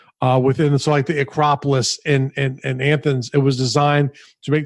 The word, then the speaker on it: Athens: it always kills mean you're like anthems I'm like it's Athens no you don't understand only which works but that's a damn fair enough I understand that there's no N in there and you're pronouncing an end that doesn't exist yes and that's how